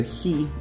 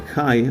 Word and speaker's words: Chi: Now for the letter He or Chi, as some people say in English, it's like an X in capitalized letter.